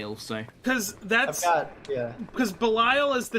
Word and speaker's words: Belial: figure arts ultraman and belial atrocious atrocious belial i like uh is that how i say it i've been calling him belile i say bellio because that's how they say it in the show i mean belial is